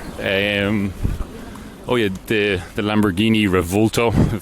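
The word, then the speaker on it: Lamborghini Revuelto: oh yeah the the Lamborghini revolto that's how it's pronounced the uh the newest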